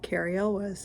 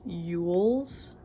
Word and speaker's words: Elwes: was like, oh cool, Cary Elwes, and he's like, it's actually pronounced Ewells. He genuinely thought it was EWLES instead of ELWES.